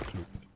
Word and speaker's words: Klyb: But yeah, we should pronounce it as Klyb.